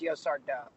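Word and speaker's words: Yaşar Doğu: It's supposed to be pronounced Yosar Do.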